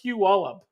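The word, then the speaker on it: Puyallup: It's pronounced It's pronounced Peu Wallup.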